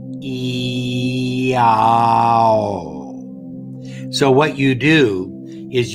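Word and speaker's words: IAO: I-A-O, pronounced E-A-O. E-A-O.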